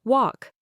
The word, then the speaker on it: walk: Silent L in certain combinations. Talk. You only hear talk. Walk. You only hear walk.